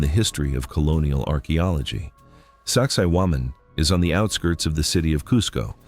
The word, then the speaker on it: Sacsayhuamán: In Quechua, the language of the Incas, it is pronounced approximately Sacsayhuamán.